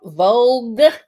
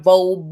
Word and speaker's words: Vogue: First of all, Vogue. That's how you pronounce it, not Vogue.